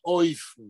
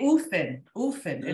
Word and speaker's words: אופן: פה זוהי מילה עברית אופן, שביידיש מבטאים אותה אויפן. אויפן, אוקיי. אויפן, ואופן זה דרך. שיטה, כן. טוב. Oh, I thought you say Ufen.